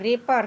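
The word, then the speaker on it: wrapper: गलत डब्ल्यू आर A double P ई आर रेपर रेपर means आवरण डब्ल्यू आर आई एस टी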